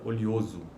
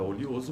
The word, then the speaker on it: oleoso: A palavra oleoso pode ser pronunciada com uma sequência de vogais pretônicas. Oleoso, oleoso, e aí tem uma transcrição fonética desta palavra. Ou com um ditongo crescente ocorrendo em posição pretônica.